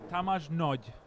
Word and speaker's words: Tamás Nagy: Yeah, and the correct way to pronounce it, I actually just ask, is Tamás Nagy. Tamás Nagy, Yeah.